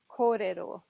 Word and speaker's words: kōrero: And then 3 syllables, and we've got a rolled R, 2 rolled R's technically. So we'll do the 3 syllables separately again. So ko, re, ro, ko, re, ro. And the whole word is kōrero.